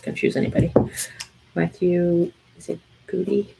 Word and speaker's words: Goode: Matthew, is it Goody? how do you say his name? Good. Goode.